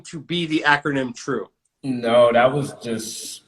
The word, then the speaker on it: Trew: because true I mean a lot of people say Trey they'd be like hey Trey I guess cause I spell it t-r-e-w but I don't understand how that looks like Trey Drew is spelled d-r-e-w so true yeah that's how I